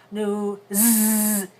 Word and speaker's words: news: that's a voice sound so that s is pronounced new Z also voiced now the place where that s